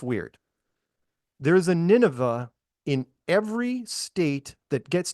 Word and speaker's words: Nineveh: And then people kept saying, look at Nineveh, which is spelled Nine Va, right? Va, right? Yeah, so, Nineveh, yeah.